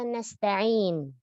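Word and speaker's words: نَسْتَعِينُ: Jangan menebalkan huruf-huruf pada kata nasta'in. Tidak ada huruf tebal di situ. Jangan nasta'in to. Nasta itu nanti tanya jadi to. Ya. Dan jangan isba pada tanya nasta'in wa iyyaka nasta'in ta'in. Nah, ini isba. Ta'in. Harusnya dia baca nasta'in ta'in langsung. Lalu pada kata nas, pada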